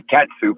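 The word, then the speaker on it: catsup: and then k-e-t-c-h-u-p yeah you can spell it two different ways and you say it two different ways because i say cat soup and people look at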